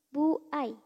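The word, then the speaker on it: 歩合: Terus kalau ketemu kanji ini dia dibacanya bukan po lagi ya. tapi jadi bu. Buai artinya komisi atau fee.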